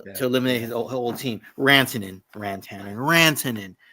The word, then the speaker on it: Rantanen: Rantanen, Mikko Rantanen, not Mikko Rantanen.